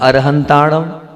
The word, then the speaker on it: अरिहंताणं: ठ नमो ये वाला और नाक से उच्चारण भूलना नहीं कैसे करना है नाक से जीभ दांत तालु कंठ होठ किसी से भी उच्चारण नहीं करना नाक से निकलेगा वो म नहीं है वो अनुस्वार है उसका उच्चारण नाक से ही होता है।